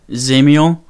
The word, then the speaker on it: Zamiel: So my real first name, it's pronounced Zamiel.